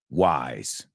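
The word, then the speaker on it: whys: to ask so many Wise Wise Wise Wise the sound is wise it rhymes with rise it rhymes with surprise and folks let's take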